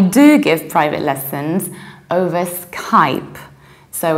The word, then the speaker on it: Skype: blue as the sky we pronounce it mr. mill away Skype is like sky Skype many potential clients call me very often ask me if I give lessons over scape and then I feel